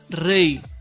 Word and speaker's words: rey: EI, que la puedes ver en la palabra peine y también en la palabra rey. Fíjate que esta Y no se pronuncia como consonante, sino como vocal.